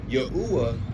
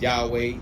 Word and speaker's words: Yahweh: Yahwa.